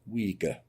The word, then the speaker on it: Uyghur: will be built on the site of an uyghur mosque that's how it's pronounced i'm saying but apparently it's wiga recently demolished by the chinese communist party in